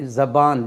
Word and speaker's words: ज़बान: ज़ुबान भी कहते हैं, ज़बान भी कहते हैं। फ़ैरुज़ुल लुग़ात में दोनों को तरजीह दी गई है, दोनों तरह से हम उसका उच्चारण कर सकते हैं, प्रोनाउंस कर सकते हैं।